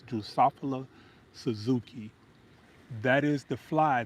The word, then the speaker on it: Drosophila: I think that's how you pronounce it. Drosophilus. Hold on now. That's a tongue twister. Drosophila. Drosophila. Drosophila. Drosophila. Drosophila. That's what it's called.